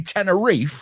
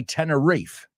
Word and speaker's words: Tenerife: You didn't say Tenerife like my English friends. They say Tenerife. I think I've always pronounced it Tenerife. Well, also, you've had a connection to Spain for a long time. Okay, so I guess I say it in the Spanish way.